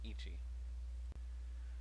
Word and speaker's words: 一: One is pronounced itsu here, though when you're counting from 1 to 10, it'll be pronounced ichi.